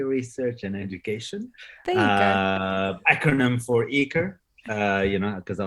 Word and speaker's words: ECRE: ensemble of coffee research and education acronym for eaker uh you know because i love acronyms uh